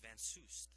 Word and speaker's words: Van Soest: That's why it's pronounced Van Soest.